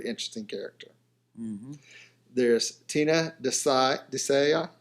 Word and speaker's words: Desai: There's Tina Desai. Is that how you say it? Desai. Mm-hmm. Yeah.